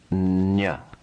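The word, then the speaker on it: ञ: The letter is pronounced nya, nya, nya.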